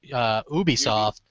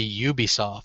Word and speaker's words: Ubisoft: It's spelled like it should be Ubisoft. Yeah. Yeah, and it's really Ubisoft.